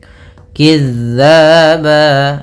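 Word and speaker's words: كذّابا: Kizzaba. Nah, hati-hati kembali dalam pelafalan huruf zal.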